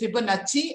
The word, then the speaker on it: Fibonacci: which is spelled as with double c in italian we pronounced as cha so it is fibonacci and art fibonacci was